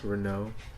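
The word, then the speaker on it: Reneau: Is that how you pronounce the name? Renault.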